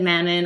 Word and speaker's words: Manon: a french tv show so i pronounced it the french french way that's why i said manon i said aileen i said manon.